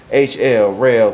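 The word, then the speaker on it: Roehl: Y'all know the big red trucks, spelled R-O-E-H-L, rail, pronounced rail.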